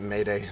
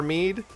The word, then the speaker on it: Mead: To be honest, before I heard you say his name, I pronounced it Mayday in my head. Nope, it's Mead because it's shortened from Archimedes.